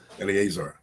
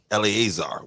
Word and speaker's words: Eleazar: senate race over there with uh elazar I think that's how he pronounced his name elazar uh Eleazar elazar my bad I said I forgot to put the A on it but uh Eleazar and